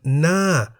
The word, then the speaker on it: หน้า: second consonant No Nu, but it is the first consonant Ho Heb which determines the tone even as Ho Heb is silent in this case. As Ho Heb is a high-class consonant, the word Na, meaning face, is in the falling tone.